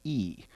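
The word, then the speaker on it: אי: A little Hebrew word pronounced E, transliterated EY, the coastlands, the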